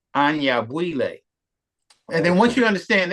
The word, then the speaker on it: Anyabwile: people say any because that's English but it's Anya buille and then once you understand that like and